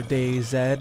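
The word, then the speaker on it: DayZ: apocalyptic type mod uh This Is The Day Z mod or day Zed if you are anyone that cares to pronounce it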